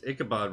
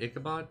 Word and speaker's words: Ichabod: was admiring the complexity of the horse chase ichabod reacting to the horse camera angles changing etc